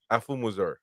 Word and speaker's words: Afumuzor: If you pronounce it with an English mindset, you're not gonna get it. You gotta pronounce it Chukwudi Afumuzor. Well, I shouldn't have said Zor. I said Sor.